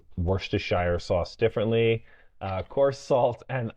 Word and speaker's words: Worcestershire: a oh, teaspoon of, I love how everyone pronounces Worcestershire sauce differently, coarse salt and olive oil. How do you say it? Worcestershire.